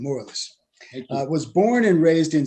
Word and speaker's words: Morelus: So here's a little info about Guy Theodore Morelus, is how you say his last name, Morelus.